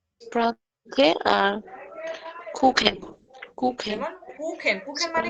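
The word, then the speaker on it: Kuchen: তারপরে আবার দেখে তখন তার উচ্চারণ হবে খ এর মতো, তখন তার উচ্চারণ হবে খ এর মতো, ক্ষয়ের মতন, হ্যাঁ। স্প্রাখে আর কুখেন, কুখেন, যেমন কুখেন, কুখেন মানে কিন্তু স্প্রাখে, কেক।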